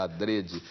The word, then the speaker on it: adrede: adrede a pronúncia fechada adrede né que quer dizer de propósito feito de propósito alg alguns professores falam Adre né É muita gente fala ADR mas o Aurélio recomenda ADR o que não quer